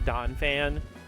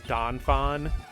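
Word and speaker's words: Donphan: I also love Donfan, though. Maddie jokes with me every once in a while cuz I always pronounce Donfan's name as Donfon.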